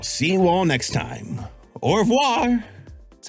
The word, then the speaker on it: au revoir: Au revoir. That's how you say it, au revoir?